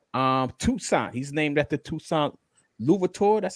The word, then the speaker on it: Louverture: He's named after Toussaint Louverture. That's how you pronounce his last name.